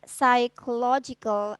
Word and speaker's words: psychological: So this one, you should try to pronounce the word psychological assessment, not psychological ya. Jadi PS gini. Jadi commonly we pronounce only one consonant in the beginning of a word.